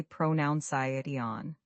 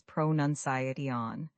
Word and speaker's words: pronunciation: Ironically, learners often mispronounce pronunciation. They say pronoun, but the correct way is pronunci.